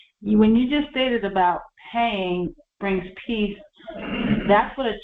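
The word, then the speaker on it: paix: PX pay peace PS in French p a i x pronounced pay is yes yes and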